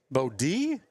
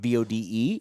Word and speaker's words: Bode: We've got a Northwood Kensett, BODE, and we've got a Bishop Garrigan, BODE, and I believe they're pronounced differently. There may be I think one's Bodie and one's Bode.